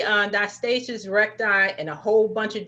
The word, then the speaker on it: diastasis recti: thank you now i know people say on diastasis recti in a whole bunch of different ways you're the doctor how do we pronounce it yeah you got it right it's diastasis recti but it's funny because i have a lot